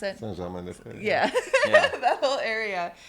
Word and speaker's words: Saint-Germain-des-Prés: How do you pronounce it? Saint-Germain-des-Prés.